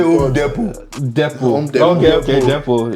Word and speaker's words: Home Depot: This T is silent. We say Home Depot.